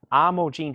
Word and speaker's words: Imogen: off this is live Festival part two 39.99 pronounced I mojin Heath Imogene Heap Foo Fighters 23.99 let's see if James